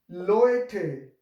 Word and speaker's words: Leute: seen that previous lesson, we learned that a, u in German language will pronounce like oe. So here, Leute, die Leute.